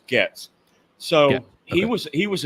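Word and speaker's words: Goetz: want to know about Bernie GS and it's pronounced GS so he was he was an elderly man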